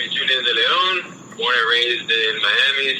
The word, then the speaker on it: Julian De Leon: I got my boy Julian De Leon.